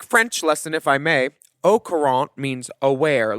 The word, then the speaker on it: au courant: Also, the T of courant is silent, so au courant.